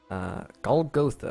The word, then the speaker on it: Golgotha: Golgotha, that's how you say it.